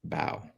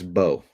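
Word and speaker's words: Mbow: Um, bow like Marcus. It's It's Marcus Bow. Okay. Like bow and arrow. Marcus Bow. You don't pronounce the M.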